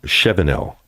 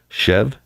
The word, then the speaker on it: Shevenell: It is Scott Shevenell. Shevenell. Remember that. Shev-N-L.